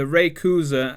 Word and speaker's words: Rayquaza: You've got the Rayquaza, and yes, that's how you do pronounce it.